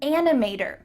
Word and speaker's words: animator: a photographer i'm an animator make sure that the t changes to a d in american english animator i'm an animator i'm